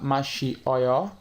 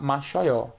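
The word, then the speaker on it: 마셔요: Então, se vocês compreenderam, só resumindo, ao invés de falar mashi oyo e escrever, o correto é falar mashoyo, pois i mais o tem o mesmo som que yo.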